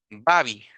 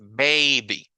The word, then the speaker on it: baby: tiene el sonido largo no lo voy a pronunciar como Babi verdad porque ese sería incorrecto ese no es el sonido largo de la a es baby Entonces cuando ustedes oigan